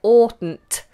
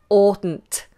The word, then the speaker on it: oughtn't: to work with but the pronunciation of oughtn't is or this hard foul big space inside the mouth or mmm i oughtn't oughtn't it's a very awkward